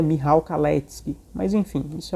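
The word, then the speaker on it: Michał Kalecki: econômica do economista polonismo Michel caleck que na verdade a pronúncia correta é mirrao kallete mas enfim isso é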